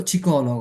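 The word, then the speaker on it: psicologo: লো চিকল খেয়াল করুন এই যে পি এর উচ্চারণ হবে না এখানে কি সি তে এস এ থেকে শুরু হবে লো চিকলগ মানে কি মনোবিজ্ঞানী লো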